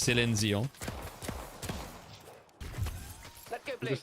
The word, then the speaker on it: Céline Dion: I had to pronounce it English way. It's Céline Dion.